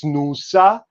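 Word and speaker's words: snuṣā: So this is pronounced in Sanskrit as snusa, and in Russian snakha.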